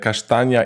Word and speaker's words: kasztan: And the funny thing is that kasztania in Polish is kasztan. Oh! Yes, so we pronounce it in a similar way with the sh sound.